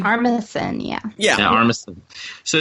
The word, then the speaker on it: Armisen: Armistan? How do you say his last name? Armisen, yeah.